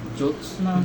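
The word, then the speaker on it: জ্যোৎস্না: টলমল শিশির সাক্ষী জোসনা উচ্চারণটা কি জোসনা জোসনার চাদরে ঢাকা নিশিন্দার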